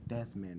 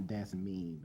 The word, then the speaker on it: Desmond: My name is Desmond, not Desmeen.